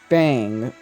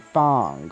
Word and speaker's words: Fong: Now, anyhow, let's see, Fei and Fong, because it's not Fei and Fang, it's Fei and Fong, or Fong.